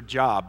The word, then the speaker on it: Job: is Bible speak for job that's how it's spelled J OB and but that's not how it's pronounced in Hebrew so we break all